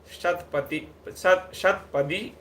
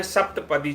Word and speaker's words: शतपदी: उसमें वो जो कल मैंने आपको एक कहानी सुनाई थी, शतपदी और मेंढक की, फिलोसफर मेंढक की। वो शतपदी है, कई बार उच्चारण में सप्तपदी चला गया है।